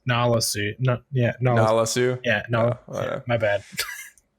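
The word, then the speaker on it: Nala Se: to clone themselves yeah I got the name wrong I wrote it down as tanasu but it's Nolla suit yeah yeah no my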